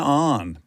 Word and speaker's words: Ahn: put W in the English spelling but W is silent so it's just oh I like it and then on yes on Boom did it I feel like a pro